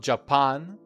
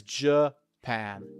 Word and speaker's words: Japan: And remember, it is not Japan or something like that. It is Japan.